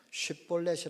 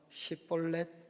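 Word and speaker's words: 쉽볼렛: 했습니다 결국 이 있다는 에브라임 사람들이 쉬 쉬 라고 하는 발음을 시라고 하는 발음으로 잘 못하는 것을 알고는 그걸 가지고 테스트를 했습니다 요단강 납 에서 작은 시냇물 작은 시냇물 이라고 하는 뜻에서 이 쉽 본래 쉴 플래시 라고 하는 발음을 시켜서 쉽 볼넷이 라 못하고 10볼 4 그러면은 이거는 에 g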